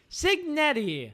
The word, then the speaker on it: Cignetti: coach Kurt and I won't even begin to pronounce his last Nettie Cignetti yes not that hard yeah that's not that